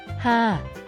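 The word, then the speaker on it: ห้า: Hey everyone, did you know that numbers can have different meanings in different cultures? Why 555 makes Thai people laugh. In Thai, the number 5 is pronounced ha.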